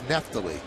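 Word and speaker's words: Neftali: outstanding 13 saves and we're not mispronouncing his name that's how his name is pronounced it's been mispronounced all of last year and he never said anything it's not NE T it's neft you know what I'm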